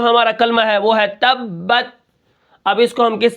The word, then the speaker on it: تبت: ساتھ ملائیں گے، جیسے تا با زبر تب، تا زبر بت، تبت، وقفن تبت۔ اب یہاں پر میں